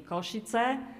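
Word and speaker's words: Košice: at PJ safarik University in Kosice Slovakia this is the proper pronunciation and I'm sure that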